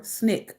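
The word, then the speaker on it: SNCC: student nonviolent coordinating committee or snick as people call it pronounce nick the group emphasized voting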